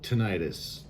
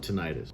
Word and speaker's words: tinnitus: So, today's topic is going to be tinnitus, or tinnitus. This depends on who you're talking to is how to pronounce it. So we're going to call it tinnitus.